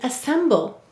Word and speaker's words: assemble: is ass finally why do we have a silent final ian assemble you're right every syllable must have a vowel let's read it assemble and notice this said it schwa sound uh why any vowel may say uh or in an unstressed syllable great work today everyone